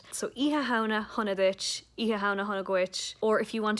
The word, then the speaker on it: Oíche Shamhna: similarly and the word eeha means night um in literal english iwahana together in irish means halloween so if you want to wish someone a happy halloween in irish you have to say either pronunciation is correct it just depends on where you're from in ireland so iha hana honodic